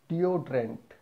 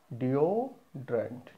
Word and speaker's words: deodorant: It's the deodorant. You have to stress on that letter O. Deodorant.